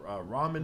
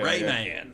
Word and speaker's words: ramen: Ramen Ramen. noodles? Or, Yeah. Rayman. Yeah, well, how do you say that now? It's ramen.